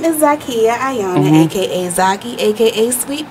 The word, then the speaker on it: Zakiya: Hello, Miss Zakiya.